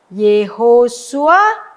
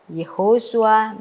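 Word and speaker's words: יְהוֹשֻׁעַ: Nah, kalau dia ada di awalan kata pastilah dia moving sewa. Nah, ya. Yesh ho shua. Ya. Ye ho shua ben nun. Ya. Ye ho shua bin nun. Ye ho shua bin nun.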